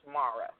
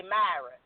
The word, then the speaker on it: Mara: no worries and also my name is pronounced Mara okay well I'm from the country so I apologize about that that's no no problem at all I'm surprised you didn't say Myra no kind it's too South